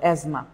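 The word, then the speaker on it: asthma: যারা অনেকবার করে এটাকে লিখছে তাদের অসংখ্য ধন্যবাদ এজমা তাহলে এসটি এইচ এম এসটি এইচ এম আপনি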